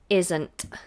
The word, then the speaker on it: isn't: make sure that's bright it is Zedd is isn't and the tongue stays up on this edge into the end isn't isn't isn't my